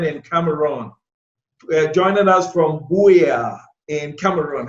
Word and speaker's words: Buea: Ki.Llings, our correspondent in Cameroon, joining us from Buea in Cameroon. How do you pronounce that name? Buea.